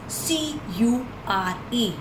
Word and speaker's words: cure: आप जब भी कभी U के साथ R-E देखोगे, its sound will be yo. For example, the first word is C-U-R-E. We'll call it cure.